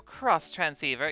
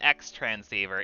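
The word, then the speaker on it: Xtransceiver: out don't forget your cross transceiver yeah it's pretty don't don't forget you guys it's not an x transceiver it's a cross transceiver it's very important very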